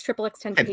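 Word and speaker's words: XXXTentacion: What's funny about it is you're pronouncing it wrong. Well, how am I supposed to pronounce 3 X's and tension? Tentation. It's triple X tentation.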